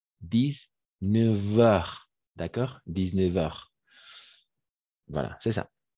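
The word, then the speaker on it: dix-neuf heures: mais on doit imaginer on va prononcer que c'est un V 10 9 heures d'accord 19h voilà c'est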